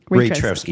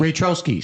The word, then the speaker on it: Raytrowski: We've got TJ and Alicia Raytrowski. Am I pronouncing that? Raytrowski. Raytrowski. See, that's a good thing I asked you. Raytrowski.